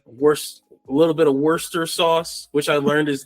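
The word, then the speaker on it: Worcester: Like a little bit wor a little bit of worester sauce, which I learned is the actual pronunciation of that.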